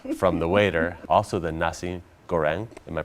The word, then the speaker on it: nasi goreng: get the recipe from the waiter also the nasi goreng am i pronouncing that right yes yes that was absolutely